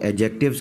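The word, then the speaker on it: adjectives: के अल्फाज हैं वो एडजेक्टिव्स कहलाते हैं। ये लफ्ज़ है एडजेक्टिव्स, एडजेक्टिव्स, और इसको एडजेक्टिव भी बाज़ लोग पढ़ते हैं। बहरहाल आम तौर पे डी इसका साइलेंट ही पढ़ा जाता है, एडजेक्टिव्स।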